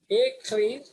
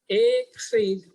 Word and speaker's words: écrire: Écrire. Suppose normally I'm saying écrire, creed. But whenever there is R, we have to pronounce like écrire.